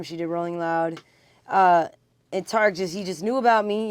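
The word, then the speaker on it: Tariq: Because I saw you're in a video with Sweetie and Tarek, is I think how you say it, Tarek.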